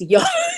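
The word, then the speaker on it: Yaa: It's Ya. Like it's one syllable.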